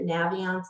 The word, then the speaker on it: Naviance: time talking about navions that's how they pronounce it naviance like navigate um and then there's